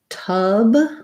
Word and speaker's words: tub: have my voice on versus tub we have our um such fun vowel vowel schwa and a voiced b sound so for tub tub you're going to hold that schwa longer because there's a voice